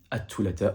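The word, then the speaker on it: الثلاثاء: Mais généralement, même si tu as du mal à prononcer la lettre Th dans un mot, tu peux totalement prononcer la lettre T. En l'occurrence, ici, at-thulatha, on comprendra que tu parles du jour de la semaine.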